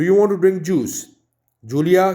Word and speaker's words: Julia: Julia, क्योंकि J से है तो it will be pronounced as ख.